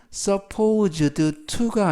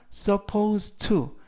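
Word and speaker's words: supposed to: 했어 라는 표현이 되겠습니다 이때 발음에 유의 하실 것은 써 포즈 드 추가 아니라 써 포스트 여름에 의해서 써 포스트 라고 발음 하시면 되겠고요 추 다음에는 동사 원형을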